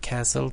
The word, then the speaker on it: castle: And remember, castle, T is not pronounced. T is silent.